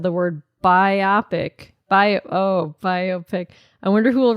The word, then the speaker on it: biopic: I used to always think it was pronounced like autobiography, aka biopic, not biopic. And when you guys said it, that was my 6th time hearing it said since I learned the proper way to say it a mere week and a half ago. Wow. How do you say it? I read it as biopic, Biopic. but it's biopic. Biopic. Like a bio picture.